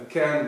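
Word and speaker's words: cairn: come from um because a can which is spelled differently c a i r n is like you find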